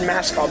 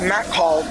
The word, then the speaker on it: Matt Call: I said Mascall, but it's Matt Call, 1954.